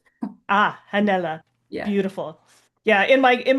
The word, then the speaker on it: Hannele: Hanella Hanella. If you put the H at the end of my name, then you probably say it right. Ah, Hanella.